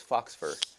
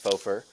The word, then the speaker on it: faux fur: I thought it was fox fur, but I guess it's faux fur.